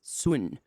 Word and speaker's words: Sun: The Brothers, it looks like the Brothers' Son, but it's Swin.